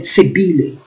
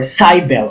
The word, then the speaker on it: Cybele: a up meaning be there are many pronunciations here some people pronounce it sibili or cybele or sibel sibil okay again in greek mythology